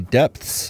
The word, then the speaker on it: depths: See, you're saying it wrong, though. Depths. Yeah, see? See? It's a little wonky. Depth. Because if you just say it depths, that's not actually, you're essentially just mispronouncing deeps.